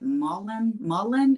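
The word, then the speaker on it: mullein: They're all saying that Mullen, is that how you say it?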